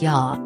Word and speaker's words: ja: In the maximum parts of Sweden, human beings say yes with a simple ja, pronounced ja, which is just the Swedish phrase for yes.